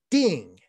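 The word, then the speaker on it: 定: this Chinese character it's pronounced ding uh d n g with a fourth tone Ding and it's um it's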